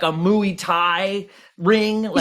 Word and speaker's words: Muay Thai: we're That's gonna because have I- Muay Thai then. In this bar. Yeah, it rhymes with Louis.